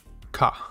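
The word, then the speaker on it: か: Pronounced ka.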